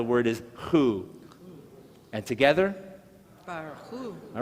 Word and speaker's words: Barchu: In fact, I've broken it into two parts because what you have is two syllables. Bar. Oh, I didn't mention the last vowel, so to speak, is the shava, those two little dots. That just means it's silent.